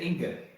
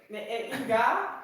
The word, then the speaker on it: Inge: So Americans cannot pronounce my first name. They also cannot pronounce my first name, and then you're waiting at Inge. a gate. They say Inge. Inga, Inga. Inge. But They think she's from Norway or something like that.